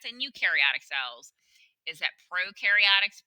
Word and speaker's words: prokaryotic: eukaryotic cells is that prokaryotics pro rhymes with no prokaryotics no nucleus eukaryotics you rhymes with